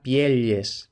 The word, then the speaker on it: pielles: Luego tenemos pielles, y aquí tenemos esta elle que sí podemos pensar que se pronunciara pielles, aunque actualmente sería pieles.